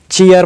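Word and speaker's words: cheer: इसे चीर नहीं, चीयर प्रोनाउंस करते हैं।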